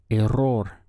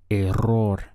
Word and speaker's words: error: changes so we get a roar this is another Double R where you should try to roll your tongue a roar the plural of that